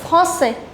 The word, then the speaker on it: français: Here S will not be pronounced, here S will be pronounced.